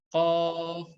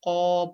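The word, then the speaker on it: قاف: Huruf qaf itu kurang lebih cara bacanya seperti huruf ki pada ejaan bahasa Indonesia, huruf ki ya sobat ya, atau huruf Q ya seperti itu.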